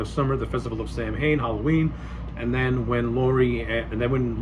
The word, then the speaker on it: Samhain: the blackboard it says Sam Hain, and Loomis gives like a little bit of a history of what Sam Hain it's pronounced Samhain, but he gives a